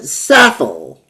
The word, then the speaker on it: Saffell: And you pronounce it Saffell. Yep, Saffel.